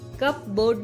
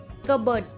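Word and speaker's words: cupboard: है लेकिन साइलेंट है कबर्ड में जो पी है व भी साइलेंट है वहां पर कप बर्ड नहीं पढ़ेंगे कबर्ड पढ़ेंगे ओनली कबर्ड नेक्स्ट बढ़ते हैं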